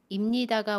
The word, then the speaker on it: 입니다: 여기에서 오늘 입니다 발음 알아보고요. 김미소입니다처럼 모음 뒤에 입니다가 오는 경우와 선생님입니다처럼 자음, 받침 뒤에 입니다가 오는 경우의 발음을 알아보겠습니다. 먼저 입니다는 입니다 라고 발음해요.